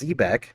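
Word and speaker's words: xebec: Yeah, it says XE BEC. So, technically that would be pronounced Zebeck, but yeah, honorable shout out to Zebec ZBCN.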